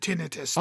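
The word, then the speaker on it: tinnitus: Every aiologist I've ever talked to has called it tinitus. That is of course the aiologist did. Yeah, that's the that is the official way to pronounce that word.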